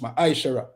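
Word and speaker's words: מעשר: it means tent in the evil and it's pronounced my ishara ten percent of every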